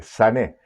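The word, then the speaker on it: שנא: Traducido al hebreo, es una palabra sané, así se escribe, sané, con acento en la E final, sané.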